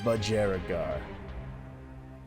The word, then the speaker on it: budgerigar: like a budgie how do you pronounce this word awesome bajaragar yeah budgerigar but jericho all right